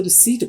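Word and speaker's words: receipt: नाज़रीन, यहाँ पर आपको बताते चले पी यहाँ पर साइलेंट है, इसकी कोई आवाज नहीं, खामोश है ये, इसलिए इसको रिसीट बोला जाता है। अगर आप रिसेप्ट बोलेंगे तो ये गलत होगा। और कई लोगों को देखा गया है जो इंग्लिश मालिक में आकर भी इसको रिसेप्ट बोल जाते हैं, तो ये गलत है। इसका सही तलफ़ुज़ या प्रोनाउंसिएशन रिसीट है, रिसीट।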